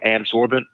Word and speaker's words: adsorbent: And I mentioned the word adsorbent, ADSORBENT. It sounds like absorbent, which is spelled the opposite way, ABSORBENT.